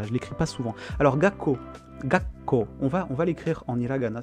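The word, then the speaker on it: 学校: Quand on a un petit tsu, en vrai, ça, en hiragana, en romaji, ça te double la consonne. Donc tu vois marqué deux fois ka. Mais dans la prononciation, il faut que tu fasses un une comment dire. Ko, tu prononces une première fois, tu fais un petit bloquement, un petit blocage, et tu renvoies la suite de la suite de la consonne, quoi.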